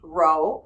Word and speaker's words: rho: all right so this symbol right here is pronounced Rho Rho Rho or but I just say Rho all right this symbol right here is called